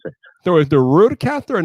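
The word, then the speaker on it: RØDECaster: rude yeah yeah yeah that's it so you'll pronounce it so is the rude caster and not the road caster it's the road caster okay that's right now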